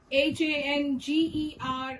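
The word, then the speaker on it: hangar: H-A-N-G-E-R and H-A-N-G-A-R are both pronounced as hanger.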